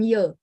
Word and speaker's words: 也: 我也, dia ye bukan ye. Ye. 我也很好. 我也很好。 Ye ya bacanya ye.